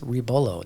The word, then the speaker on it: Rebollo: Rebollo. That's how you pronounce it, right? Rebollo. Oh, I got it completely wrong. Can you say that one more time? Yes, you got to roll the R, it's rebollo.